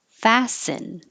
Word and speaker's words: fasten: stress apology colleagues colleagues fasten fasten no t seat belt no t's you hold your tongue